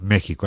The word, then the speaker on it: México: en este caso concreto también puede pronunciarse como una J en ciudades como Oaxaca Jalapa Y por supuesto México que se escribe con x pero se pronuncia México Así que igual que